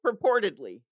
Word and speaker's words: purportedly: Um, People reports that Kelly Tedford purportedly, I never pronounced that word well. What hold on, where is it? Or Purported Oh, purportedly.